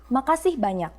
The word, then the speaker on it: makasih banyak: Makasih banyak.